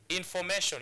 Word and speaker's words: information: So this is how you pronounce this word, information. You don't say information. You don't say information. No, you say information. It's a piece of information. So that's why we are placing our stress marker on the second syllable.